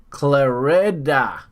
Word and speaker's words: Clarida: but that's very disrespectful let's make sure we pronounce it correctly clarida clarida is saying uh hey hey you